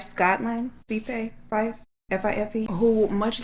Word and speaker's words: Fife: In 2014, 18-year-old Paige Rowland is a student nurse, and I believe it's pronounced Fife, Scotland. Fife?